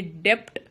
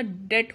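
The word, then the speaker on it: debt: Doubtful, डेट, ये डेप्ट नहीं होता, डेट होता है, बी साइलेंट होता है इसमें.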